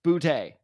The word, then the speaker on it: Boutte: So I've been meaning to learn how to pronounce this guy's name, and I finally did. Kayshon Boutte. It's Boutte.